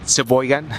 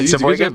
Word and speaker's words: Sheboygan: If I say it in a bad way, Sheboygan. Yes, I was starting to say it properly. Yeah, Sheboygan.